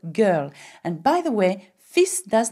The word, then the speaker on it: fils: Le fils. Now have a look at the spelling of this word, F-I-L-S, fils, okay? And we don't say fils, okay? We don't pronounce the L in effect.